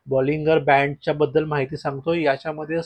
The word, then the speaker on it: Bollinger: आहे आणि तो आहे बॉलिंजर बँड. कोणी याला बॉलिंगर बँड सुद्धा म्हणतं. ॲक्चुअल प्रोनन्सिएशन त्याचं बॉलिंगर बँडच आहे, पण मला ती एक सवय लागली आहे बॉलिंजर बँड बोलायची.